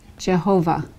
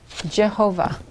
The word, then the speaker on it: Jehovah: under the Bob and traditionally it's pronounced in Christian liturgy Jehovah okay Jehovah with the J it can also be